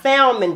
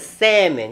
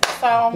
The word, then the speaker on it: salmon: And not salmon, but salmon. You gotta pronounce it right, okay? That's salmon.